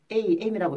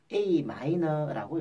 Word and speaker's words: Am: A 다음에 M자가 붙어 있는데 이 M자는 소문자로 되어 있을 경우에는 마이너라고 읽고 대문자가 M이 있으면 메이저라고 읽게 됩니다. 이걸 AM이라고 읽으시면 안 되고 A 마이너라고 읽습니다.